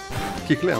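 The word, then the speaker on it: Kecleon: Kecléon, hein. Pas comment vous le prononcez.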